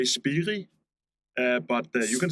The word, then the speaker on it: Spirii: Well, here in Denmark, we say Spirii, but you can say Spirii, but you can say Spirii as well, so that's fine with us.